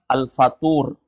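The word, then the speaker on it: الفطور: orang arab bilangnya alada kalau sarapan alfatur pakai th fthur kalau futur beda lagi kalau futur artinya fatrah Bosan ya futur ada yang enggak datang malam ini kenapa bosan futur namanya itu sudah baik kalau dibaca Fatur sarapan pakai th tapi dia Fatur sarapan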